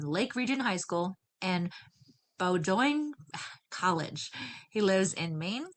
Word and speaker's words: Bowdoin: Bowdoin. Bowdoin. Okay. I'm like, it's pronounced, it's definitely spelled different than it is pronounced.